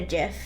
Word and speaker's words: GIF: It's pronounced GIF.